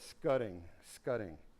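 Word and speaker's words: scutting: So call it scudding. It's spelled S-C-U-T-T-I-N-G.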